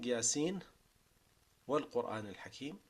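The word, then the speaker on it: يس والقرآن الحكيم: the way of Shatibiyyah, the only way you're allowed to say that is by saying Yasin wal Quran al Hakim. Right? So you pronounce the whole letter, even if you're continuing. You pronounce the full letter with the full Nun and make idhar before the Waw.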